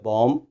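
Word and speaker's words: bomb: And one thing more, M और B जब भी आ जाते हैं साथ, तो हमने M के बाद निकालनी B को साइलेंट करना है, जैसे बॉम्ब, कॉम, टूम, लिम, एटसेट्रा.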